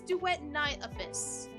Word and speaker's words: Duet Night Abyss: It's duet night abyss.